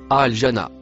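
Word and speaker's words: الجنة: Le mot en vert, se prononce, al-jana.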